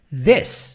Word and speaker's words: this: This. A língua na ponta do dente e nós pronunciamos this.